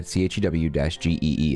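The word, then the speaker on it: chuegy: Pronounced chuggy. Yeah, CHEW-GEE is how they describe the pronunciation.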